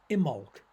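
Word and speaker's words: Imbolc: the pagan feast of imolc which is spelled i m b o l c but you don't pronounce the b uh and immo coincides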